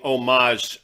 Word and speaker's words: homage: say exactly that we're paying homage a silent h there to cut braxton